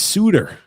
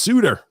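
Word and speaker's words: Suter: levy said tj it's suitor uh he's not one of the sutter brothers it's pronounced suitor that's right dj michael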